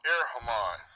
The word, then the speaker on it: erchomai: It's ERCHOMAI, this word.